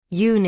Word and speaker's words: Yun: Yun is a sound that doesn't correspond directly to anything in English, but is essentially pronounced Yun.